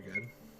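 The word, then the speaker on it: ご: The pronunciation is go, as a go homa.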